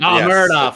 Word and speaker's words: Muradov: Mahmoud Muradov. Yes. Muradov, that's right. If it's said phonetically, nailed it.